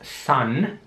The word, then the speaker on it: son: Das Wort ist son. Und das Wort son heißt Sohn. S-O-N. Son. Es wird wieder S-A-N ausgesprochen aus deutscher Sicht.